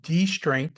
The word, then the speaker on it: distraint: s t r a i n t um pronounced distraint uh spelled a little bit differently but um